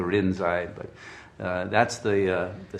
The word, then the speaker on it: Rinzai: the rinzai sec because they can't pronounce linchi you know in japanese so they turned it to rin's eye but that's the uh